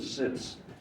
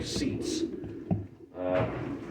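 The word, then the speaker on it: Sitz: the way it's wrote, they want to say seats. Sit. Sits. So if you ever watched any German competing, you will see there's not a single German that says seats. He says sits.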